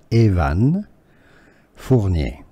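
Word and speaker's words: Evan Fournier: pronounced in French and how you can easily pronounce it in English in French his French name name is Evan Evan for Evan for therefore in English you can is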